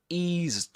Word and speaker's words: eased: He says, he eased off the accelerator a little. Catenation here. Eased off, eased off, eased off. This is not pronounced as s, but z. Eased off with a long E.